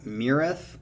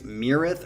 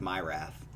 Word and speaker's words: Myrath: how to pronunciate this this is called mirath i think it's mirrith or myrath i think it's mirath but uh the the hick way of saying it would be like my wrath quesadilla my wrath but